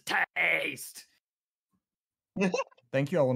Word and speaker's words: Tahste: And just to clarify the pronunciation of the second team, they are known as Tahste!